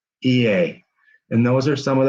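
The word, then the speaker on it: Oia: o i a but you know what it's pronounced ea and those are some of the things that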